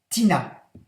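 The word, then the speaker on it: Tinea: Tina s'écrit T-I-N-E-A. C'est le nom savant latin de teigne, mais ça se prononce Tina.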